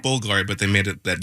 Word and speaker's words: Bulgari: You say it Bulgari, but they made it that U like a V.